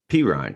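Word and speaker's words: Perine: pick up uh perrine how do you say right p ryan p ryan almost sounds like i'm saying it wrong by saying it right just like a chubba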